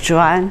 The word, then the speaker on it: Juan: Juan, so pronouncing Chinese is Juan, not in Spanish.